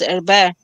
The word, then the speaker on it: Herbert: Amber's her surname is Herbert. Yeah. Herbert. Mm. Because you don't pronounce the T in French. It's a French name.